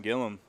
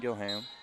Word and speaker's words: Gillum: Colin Davidson against Trent Gillum I just heard him say his name so I was right the first time it is Gillum not Gilham I thought with the spelling it could be Gillan got the pin really